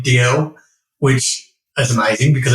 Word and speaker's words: Dalziel: there's actually an old um detective show called DL and Pasco and it's spelled the same way so any fans of